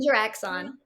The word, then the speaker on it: InteraXon: InteraXon.